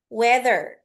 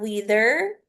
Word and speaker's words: weather: Weather ya. Bukan wither tapi weather.